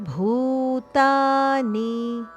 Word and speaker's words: ಭೂತಾನಿ: ಸೋಮೋಭೂತ್ವ ರಸಾತ್ಮಕಹ ಗಾಮವಿಷ್ಯಚ ಭೂತ ನಿ ಗಾಮಾ ವಿಷ್ಯಚ ವಿಷ್ಯಚ ಇಲ್ಲಿ ವಿ ಮೇಲೆ ಆಘಾತ ಇದೆ ವಿಷ್ಯಚ ಭೂತಾನಿ ಭೂ ಮಹಾಪ್ರಾಣ ಭೂ ಹಾಗೂ ಮುಂದೆ ನಿ ಹರಸ್ವ ಭೂತಾನಿ ಧಾರಯಾಮ್ಯಹ ಮೋಜಸ ಧ ಮಹಾಪ್ರಾಣ